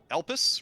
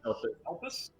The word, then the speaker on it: Elpis: So rather than touching probably the door, more likely help me pronounce this. Elpis, right? Elpis? Yeah. Yeah.